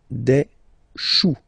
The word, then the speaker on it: choux: Then, un chou, okay, remember, when you combine this C and H, you get the sound sh, sh, sh. Chou, un chou, pluriel, des choux.